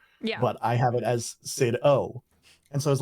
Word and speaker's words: CidO: But I have it as Sid O. And so I was like, maybe with Sid O people will pronounce it a little bit.